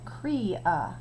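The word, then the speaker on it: cria: is called a crea this tells us how to say it crea Kuya less than an hour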